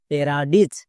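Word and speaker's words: paradise: কাজ করে না এখানে দেখো আই আছে তার মানে আই রুলস কাজ করবে না আই এর জন্য হস্বীকার হবে ডি এর জন্য ডো আই এর জন্য হস্বীকার হয়েছে সো আমাদের এরকম করে মনে রাখতে হবে চলো এবার উচ্চারণ করো পি এ আর এ প্যারা ডি আই সি H ditch প্যারাডিচ খুবই সিম্পল নিয়ম যেমন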